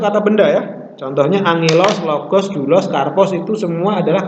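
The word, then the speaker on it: λόγος: Kalau logos itu biasanya diucapkan logos, bukan logos.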